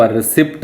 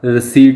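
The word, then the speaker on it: receipt: रसीट की होंगी है, इत्थे पी साइलेंट बोलनी, आप रिसिप्ट नहीं बोलना, रसीट होंगी है।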